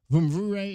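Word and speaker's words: Mvumvure: Gabriel Vumvure is our guest. The M is silent. It is spelled M-V-U-M-V-U-R-E, but the M is silent.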